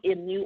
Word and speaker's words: emu: you tonight is called the IMU oil and that's spelled emu for you to go